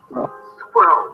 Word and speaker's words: squirrel: Squirrel. One of the most different because you have 3 consonants together, an R and an L. It's like almost impossible, and everything within the same syllable.